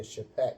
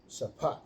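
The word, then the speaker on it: שָׁפַט: Strongs H8199 Shafat Shafat Well, they pronounce it in there Shapat, but it's sapat.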